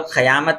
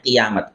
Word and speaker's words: قیامت: اس کو کئی لوگ قیامت پڑھتے ہیں قوف کے زبر کے ساتھ. یہ قیامت غلط تلفظ ہے. صحیح پروننسیشن اور صحیح تلفظ اس کا ہے قیامت، قوف کے زیر کے ساتھ.